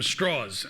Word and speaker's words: Strauss: named Louis Strauss except Strauss lived in Virginia where people couldn't pronounce Strauss so they called them straws and so he's known as Lewis straws he was a very